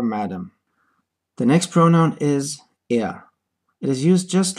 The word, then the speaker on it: er: Note that the pronunciation of this word is close to the British pronunciation of the word er, er. The R at the end is not pronounced.